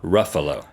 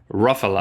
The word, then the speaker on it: Ruffalo: I think it's Ruffalo. Oh, no. Ruffalo? Ruffalo. Ruffalo. Rhymes with buffalo.